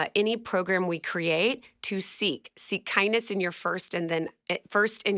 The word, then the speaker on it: SEEC: To seek kindness in your first in yourself and then others. Seek is self-image, emotional awareness, empathy, and community. And it's spelled with SEEC, Yeah. not K. Yeah.